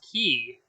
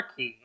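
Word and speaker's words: cay: k also spell or maybe it's pronounced key it can be pronounced k or key because i'm thinking you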